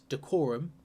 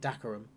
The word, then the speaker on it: Dacorum: Now, in my preview video, I was pronouncing this decorum, and when I was listening to it back, I was like, that doesn't sound right. It sounds wrong. So I'm calling it Dacorum this time, and hopefully one of those is right.